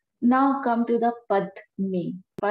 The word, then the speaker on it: padme: Om money, ma ani, two syllable here. Now come to the padme. Padme is like lotus, okay?